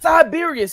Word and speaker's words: Sybaris: So it says that it got more space in Siberius. It's spelled Sybaris. They got multiple of the Midwest. Siberius is the name of it, y'all.